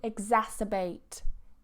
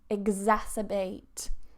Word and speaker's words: exacerbate: So, to make worse, we have to exacerbate. Exacerbate. So, this X here, this X is pronounced as a g.